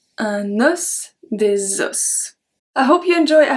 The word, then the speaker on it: des os: Numéro 8, un os, des os. We don't pronounce the S when it's plural. Un os, des os.